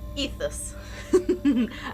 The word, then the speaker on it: Aethus: It's a It's a demo for Ethus. I pronounced it correctly that time.